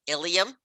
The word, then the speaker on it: ilium: All right, Ilium, both pronounced exactly the same, Ilium and Ilium.